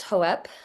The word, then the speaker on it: Hope: Yeah, so it's actually pronounced Hoep, but that's the only person that calls me that is my husband. Um, so I just tell other people it is hope, but that came through